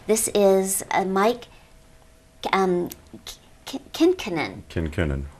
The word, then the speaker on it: Kinkennon: is a Mike um kenon kenon K kenon yes Accent on that second syllable Kennon kenon and Joel Monon